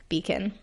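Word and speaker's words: Becon: And this one is spelled differently as well. It's B-E-C-O-N, Beacon.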